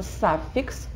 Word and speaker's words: suffix: И суффикс – посмотрите, это читается suffix. Давайте все скажем слово «саффикс», пожалуйста. Почему это не суффикс, а саффикс? Вот так читается здесь в данном случае буква «ю» в закрытом слоге.